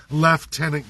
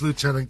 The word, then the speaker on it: lieutenant: It's either federally for the governor general of Canada or it's proincially left tenant governor. But it is lieutenant governor. We use the old UK pronunciation that isn't even in the spelling.